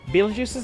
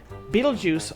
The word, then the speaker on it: Beetlejuice: The name spelled b e e t e l j u i c e was done as as a phonetically accurate pun due to people largely not knowing how to pronounce Beetlejuice at a glance.